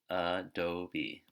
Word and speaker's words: adobe: one right here, so Adobe. Okay, so upside down E. Upside down E represents short A sound or short U sound.